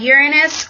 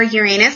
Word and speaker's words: Uranus: talking to you about Uranus or Uranus depending on how you say it but this is the